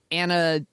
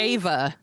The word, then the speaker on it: Ava: So it's like Anna Duvernay, I think is how you pronounce it. She's like a writer, director, sometimes actor. Ava DuVernay? Ava.